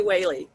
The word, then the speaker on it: Whaley: could have sworn i got corrected okay nikki whaley uh she's a board support and field services